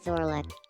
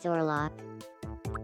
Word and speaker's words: Orlok: My name is Orlek. That's not how you pronounce it. My name is Orlok.